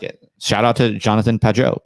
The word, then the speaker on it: Peugeot: Shout out to Jonathan Peugeot. Peugeot, is that how you say it?